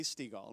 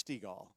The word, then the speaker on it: Stegall: And I'd say, no, it's Stegall. My wife's really good at it. She'll get you. If you say it wrong, she'll say it's like the ball.